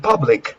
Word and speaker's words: public: The U sound is pronounced like uh, a relaxed sound.